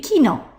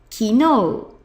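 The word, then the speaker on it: きのう: look at this one no without the u it would be Kino Kino but with the U it becomes Kino Kino it's got a long o sound Kino and that's yesterday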